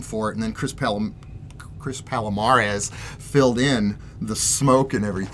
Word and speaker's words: Palomares: It's not Chris Palomares, it's Chris Palomares.